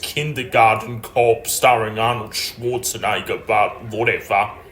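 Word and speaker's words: Kindergarten Cop: you got me my favorite arnold schwarzenegger movie kinder rotten rope oh thank you honey you are the best it's actually pronounced kindergarten corp starring arnold schwarzenegger but whatever she doesn't have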